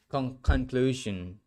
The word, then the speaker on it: conclusion: U the verb conclude conclude conclusion. Conclusion. Conclusion. Conclusion changes to the noun conclusion. Conclusion. Okay. It It sounds like not shun. Jen. Conclusion.